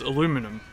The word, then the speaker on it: aluminum: and now if you take that eye out though it becomes aluminum which is how the Americans say and quite often spell it aluminum and you can't take